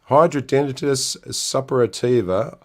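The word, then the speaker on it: hidradenitis suppurativa: So let's have a go at pronouncing this. There it is. Hydrodenitis suppurativa.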